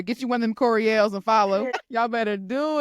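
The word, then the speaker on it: Courie11e: follow me on Instagram it's kind of part of my name but it's pronounced Corel and I'mma spell it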